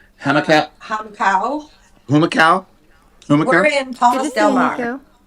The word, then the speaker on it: Humacao: How's it pronounced? Humacao.